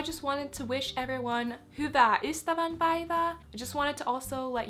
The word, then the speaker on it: Hyvää ystävänpäivää: Could go over how to both say and pronounce happy valentine's day in finish so in finish happy valentine's day is Hyvää ystävänpäivää hyvää HY vaää HY u HY vaää hyva